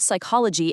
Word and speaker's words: psychology: Hearing the word psychology and starting it with an S or an SI is a super common way to get eliminated. But champions know the code. They know Greek words absolutely love to hide a silent P right before an S when dealing with the mind.